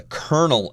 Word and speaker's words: colonel: had a dissolute life style anyways with a colonel everyone and by the way the pronunciation is Colonel even though the word is